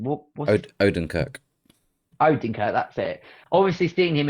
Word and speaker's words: Odenkirk: Obviously, every time I see the act, which is Bob, his surname I always struggle with pronouncing. What's Odenkirk. Odenkirk, that's it.